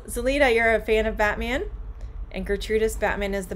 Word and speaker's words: Batman: so okay when um when i say batman the t i'm moving right past the t and going to the m now you can say batman but when you are